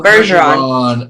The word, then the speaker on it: Bergeron: do you say your last name is it burger on bergeron bergeron bergeron there you go bergeron oh i knew that you know you know